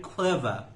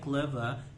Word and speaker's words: clever: He was very clever. توی بریتیش میگن clever، امریکن میگن clever. اون آرش تلفظ نمیشه تو بریتیش.